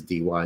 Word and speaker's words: Dy: is my middle initial, and then my last name is DY. It's pronounced D.